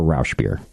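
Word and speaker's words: Rauchbier: here's one though yeah actually there's no sh in German ra if you did it in German raer there you go uh or Rous beer in English I think is fine anybody disagree with Rous beer R beer fine no not everyone can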